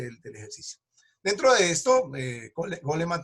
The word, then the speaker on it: Goleman: Dentro de esto, Goleman también, o Goldman, como lo pronuncian algunos, entra una parte muy